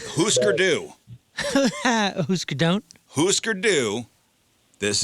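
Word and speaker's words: Hüsker Dü: He can't say Husker do. No, it's because it's Husker Du. Right. Husker Du.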